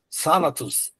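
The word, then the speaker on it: θάνατος: palavra morte, né, que a gente poderia ler tánatus, mas na verdade sanatos, táatos? Então seria mais sibilante o th, então ele não é um equivalente ao T da nossa língua, então ele é mais puxado, mais sibilante, mais puxado para um som, tá? Mais próximo do S, tá?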